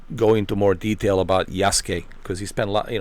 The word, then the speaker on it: Yasuke: he did play as Yasuke and he can tell you more about the Yasuke uh not Yasuk they call him Yasuke Yas that's how Japanese pronounce it same thing with uh